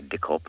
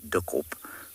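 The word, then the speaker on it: dikkop: Ops or thick knees we really shouldn't say dick op for a number of reasons the first is that it's not the bird's name anymore the second is that it's a dreadful mispronunciation of duop which means thick head so we'll just call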